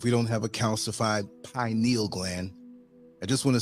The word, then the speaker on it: pineal: just want to say it's pronounced pineal, not pineal, okay? It sounds so ignorant when I hear people say pineal. It's not a needle, it's a gland, pineal, okay?